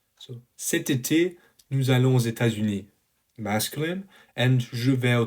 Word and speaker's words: aux États-Unis: And cet été, nous allons aux États-Unis, you kind of hear this aux États-Unis, so this S at the end, which is called a liaison in French.